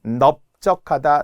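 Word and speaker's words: 넓적하다: 다시 한번 넙적하다, 넙죽하다, 넙둥글다는 리을 비읍의 넙으로 발음이 나서 원형대로 썼어요.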